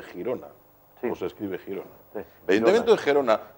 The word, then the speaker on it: Girona: cual el ayuntamiento de gerona que creo que ahora por una enfermedad se dice Girona Cómo se escribe Girón